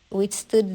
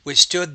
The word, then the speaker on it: withstood: which stood the, which stood the test of time, Withstood the test of time. So with that T, you want to pronounce that with a little bit more aspiration.